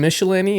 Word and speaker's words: Mishalanie: bloodshed and I've got michelinie is that how I'm pronouncing your last name right yes that's correct Michelini with